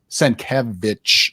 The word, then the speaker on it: Sienkiewicz: Sienkiewicz, it's in his Twitter. That's how you say it.